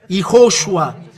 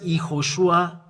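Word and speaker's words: יהושע: there is dot here when V there is dot on the top it's oo because we have repeated the way to pronounce in in the separate Tora when there is those three TS it means this is sh and O it means u i will teach other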